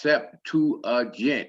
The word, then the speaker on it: Septuagint: you the little scrolls the septuagint pronounced sep 2 agent is a greek translation